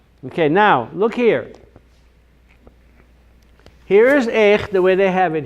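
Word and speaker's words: איך: These two words are pronounced the same way. Remember the lesson about when you see a shiva, pretend it's not there. That's how short that sound is. Yeah. It's as if it's not even there. Right. So this is pronounced eich, and this is pronounced eich, even though there's no connotation in there.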